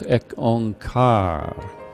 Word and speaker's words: Ek Ong Kar: And the stresses on the syllables is shown there as ek ong kar, ek ong kar, ek ong kar.